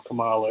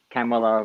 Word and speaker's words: Kamala: I just know from the Maya Rudolph SNL where she's like Kamala rhymes with Pamela, something like that.